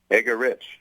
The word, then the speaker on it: Eggerichs: was born with it egar oh EG egar eggar Rich oh I've been mispronouncing it all all show sorry no you